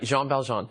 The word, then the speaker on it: Jean Valjean: I got to ask you about Jean Valjean or whatever. Everyone has different pronunciations for all. Yeah, but that's right, Jean Valjean.